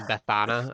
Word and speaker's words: Bethana: Um, I actually said it wrong earlier today. I said Bethany. It's actually Bethana.